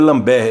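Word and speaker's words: d'Alembert: de lamber tá geando E lamber é mais ou menos assim que pronuncia o nome dele está aqui está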